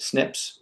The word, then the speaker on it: SNP: Um, and what you're looking for or what ends up popping up is what we call single nucleotide polymorphisms, SNPs, snips as we often pronounce it.